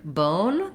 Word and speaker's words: bone: Then in the word bone, the thing to watch out for is the O is a diphthong in American English. So just make sure you're holding it longer.